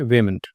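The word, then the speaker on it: vehement: word है आपके सामने वेमेंट एच साइलेंट होता है अ की साउंड आती है रेफरेंस क्या है वेमेंट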